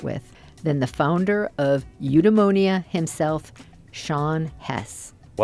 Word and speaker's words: Eudemonia: And who better to start with than the founder of Udeonia himself, Sean Hess.